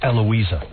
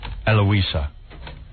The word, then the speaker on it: Heloisa: Her name is Heloisa Vilela, but the H is silent, so it's Eloisa. Oh. Eloisa.